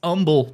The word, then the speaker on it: Humble: You don't say it's not Humble, even though it's spelled Humble. It's Humble, Texas.